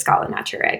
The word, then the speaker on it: Scala Naturae: I pronounce it so many different ways. I think it's Scala Naturae, but it's a Latin Greek term for um, ladder or scale of life.